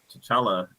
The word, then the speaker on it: T'Challa: also does the voice of uh uh uh t'challa and I said it right God damn it yeah anyways he does the voice of chatala in uh Marvel's Avengers that one seat of